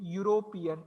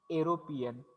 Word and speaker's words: European: जरी सुरुवात इनी होत असेल तरी सुद्धा वी आर गोइंग टू से युरोपियन. इट विल बी य साऊंड अँड नॉट एरोपियन.